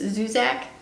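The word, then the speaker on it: Zusak: Book Thief by Marcus Marcus zuzak is that how you say his name yes yes it's worth your time it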